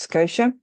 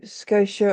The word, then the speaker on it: Scotia: matter with Scotia, and I think that's how you pronounce the name, though it is written Scotta. I think it's pronounced Scotia. Please correct me in the comments below. Back in the 90s when